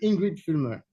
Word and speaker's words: Ingrid Fulmer: So, we have Ingrid Fulmer. CITL AI: Did I pronounce it well?